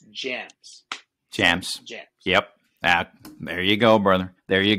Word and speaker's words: JMZ: think that it's jmz it's not jmz it's jams and jams the letters jmz come from my last name Jimenez right but if you write jmz and somebody says pronounce that it's gems jams yep back there you go brother there